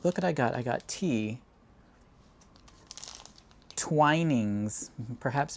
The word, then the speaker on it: Twinings: Twinings, perhaps pronounced Twinnings.